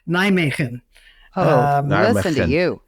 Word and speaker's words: Nijmegen: Spell it again. Nijmegen. This is a trick question. It's Nijmegen. Is that correct? Yeah, close enough. Oh, it's Neiman.